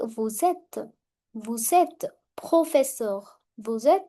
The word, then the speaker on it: vous êtes: Again, S will overlap the sound of E. Vous êtes.